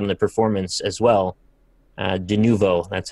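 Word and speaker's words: Denuvo: De novo, that's how you say it.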